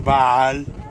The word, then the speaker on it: Baal: Actually, the real name, the real pronunciation for it is Baal.